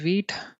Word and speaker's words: Vite: over here let's call it as day 17 wheat v i t e pronounced as wheat it is French for being fast or quick